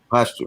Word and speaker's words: posthumous: Posthumous.